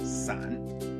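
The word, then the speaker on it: 伞: The word for umbrella, san, sounds like the word san, which means to separate.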